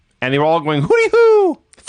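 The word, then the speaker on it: Hoody Hoo: a d okay so it's not hoot like an owl it's Hood like a hoodie like in the hood hoodie who okay but they pronounce it hoody who so according to Wikipedia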